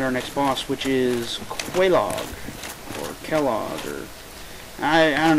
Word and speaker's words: Quelaag: I say Quelaag. Sounds the most correct, if that's the proper usage of these words.